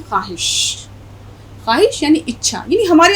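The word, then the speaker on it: خواہش: अगर हम इसको पढ़ें ख्वाहिश, तो इसका उच्चारण या इसका प्रोनंसिएशन या इसका तलफ़ुज़ गलत हो जाएगा। इसमें वाव साइलेंट रहेगा और हम पढ़ते हैं ख्वाहिश।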